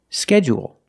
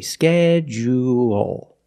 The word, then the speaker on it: schedule: Some people stress the first syllable only and some people stress both syllables. If you stress both syllables, you say schedule. schedule and you say schedule schedule.